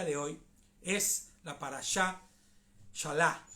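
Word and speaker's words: Beshalach: Entonces, nuestra parashá que nos corresponde el día de hoy es la parashá Shalá. Se escribe Beshalá, pero se pronuncia solamente Shalá. Como la Shalá, como la B no tiene mucha pronunciación.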